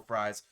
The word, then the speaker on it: Fries: be signing will freeze will fres I believe is actually pronounced it I was trying to be nice I think it is Will fries he had 87 PFF